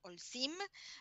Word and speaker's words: Holcim: se pronuncia como J no se pronuncia es muda y le decimos hsim a ver Claudia sácame